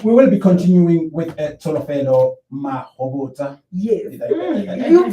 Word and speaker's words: Tsholofelo Mahobotsha: Yeah, we will be continuing with Tsholofelo Mahobotsha. Yes. You pronounced it perfectly well.